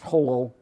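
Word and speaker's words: Jolo: to the south particularly that island which is pronounced holo Aloha spell Jail allowed Joel oh that is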